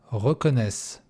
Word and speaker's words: reconnaissent: Je reconnais, tu reconnais, il, elle, on reconnaît, nous reconnaissons, vous reconnaissez, il, elle reconnaissent. И как всегда, ENT не произносится.